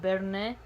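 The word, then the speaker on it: Berne: with foreign powers of bernay as the head of the protestant association okay so that's spelled b-e-r-n-e almost sounds like bernie bernie sanders sounds funny and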